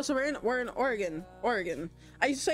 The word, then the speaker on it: Oregon: to say Oregon and I used to be be made fun of for saying Oregon cuz I thought that was Oregon for my whole life because you know that's that's how it's that's how it's spelled but it's Oregon it's so good that